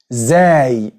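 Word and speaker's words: زاي: Then we have the letter zay. Zay. Which is pronounced z.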